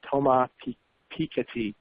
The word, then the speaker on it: Thomas Piketty: I looked up the pronunciation of his name, Thomas Piketty, and it was an international bestseller.